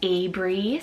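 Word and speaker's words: Abrie: It could mean red if it's spelled differently, and it could mean pathway. I have the name Abry, spelled A-B-R-I-E, Abry.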